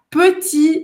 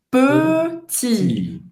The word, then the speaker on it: petit: É justamente aquele biquinho francês, que faz a boca do O e fala E. Petit. Petit. E não é petit, tá? Então você não fala sorrindo.